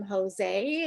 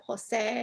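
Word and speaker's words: José: was saying his name they were calling him jose instead of jose and he explained that there's an accent on the e and so i saw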